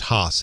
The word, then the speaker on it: Haas: trying to arrest curtis i believe it's pronounced haas h-a-a-s on suspicion of first-degree